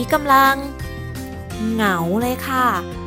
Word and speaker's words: เหงา: ค่ะ ห ง เอา เหงา ค่ะ เห็น มย คะ ว่า เรา จะ ไม่ ออก เสียง ว่า เงา เพราะ มี หอ นำ เข้า มา แล้ว อยู่ คู่ กับ ง งู ดัง นั้น เสียง ง